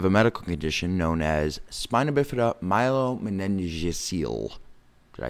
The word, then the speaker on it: spina bifida: easy series spina bifida is two words spina bifida not to be confused with spinal a lot of people get this confused the mispronunciation of it they get confused by it spina not spine null as some people